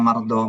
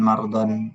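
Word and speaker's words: مرضى: Jadi kita bacanya mardoh bukan mardon bukan hublan bukan zikron. Kenapa?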